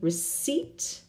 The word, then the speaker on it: receipt: as we're here in receipt can you say we don't pronounce that pink receipt receipt very good very nice